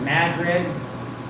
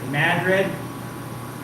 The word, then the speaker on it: Madrid: Like instead of Madrid or instead of Madrid, it's Madrid.